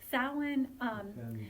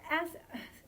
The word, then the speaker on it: Samhain: How do you spell it? Samhain is right, exactly. So Samhain.